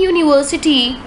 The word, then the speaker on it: university: giving us consonant sound the vowel U in University and uniform and the vowels EU in European sound like you why oh you that is these words sound as if they begin with the consonant why so they used it